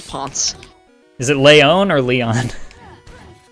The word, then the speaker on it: Ponce: I'm only familiar with Pounce de Leon. Yeah, no, it is Ponce.